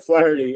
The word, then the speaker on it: Flaherty: Yeah, so Pat, correct me maybe on the pronunciation. Jack Flaherty? Yep, Flaherty, yep.